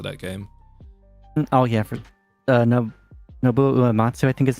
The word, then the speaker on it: Nobuo Uematsu: Oh yeah, for Nobuo Uematsu, I think his name is pronounced.